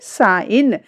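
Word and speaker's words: sign: देखिए साइन, जी को यहाँ पर टोटली से रिमूव कर दिया गया है, डिलीट कर दिया गया है, क्योंकि जी इसमें साइलेंट हो रही है।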